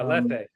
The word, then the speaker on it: Lethe: Did I pronounce that right? Yeah, lethe.